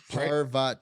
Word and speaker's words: Parvati: Parvati parva so parv someone actually sent us how to pronounce that like a YouTube video it it was like parva and I was I was saying I was saying pavar or something pavar yeah let's